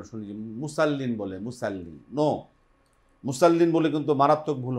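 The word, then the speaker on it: مصلين: মুসাল্লিন বল উচ্চারণ জিহ্বার আগা সামনে নিচে দুই দাতের সাথে লাগিয়ে মোটা করে আওয়াজ করে মুসাল্লি হবে না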